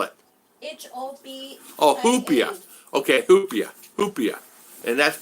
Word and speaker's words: hopia: That's Hopia. Huh? Hopia. Spell it. H-O-P. Oh, hoopia.